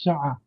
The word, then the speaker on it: شقة: Or how the Egyptians, they pronounce the qaf or the ayn. So they say sha'a.